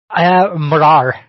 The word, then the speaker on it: Morar: So the last video that you've put up was Morag, the monster of Loch Morar. Am I pronouncing that correctly? Morar.